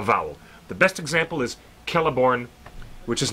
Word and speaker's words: Celeborn: When you have the letter C at the beginning of an Elvish word, Celebrimbor. It's Celebrimbor or Celeborn. It's never C.